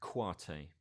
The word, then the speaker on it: Kouyaté: So we're going to look at an artist from Mali called Habib Kouyaté. Okay, I'll spell that second name.